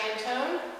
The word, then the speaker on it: Mantoan: As Jamie mentioned, I'm Mantoan, which is probably not how you thought about pronouncing it when you read my name.